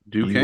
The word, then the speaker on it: Duquesne: Duquesne, am I pronouncing that right, Tibbs? Duquesne.